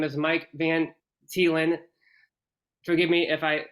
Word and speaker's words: Van Thiela: special guest on today his name is Mike Van telen forgive me if I said your name wrong Mike but right you did it right